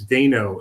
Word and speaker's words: Dano: and they said it's Dano it's easy to remember because it rhymes with Drano and that's what I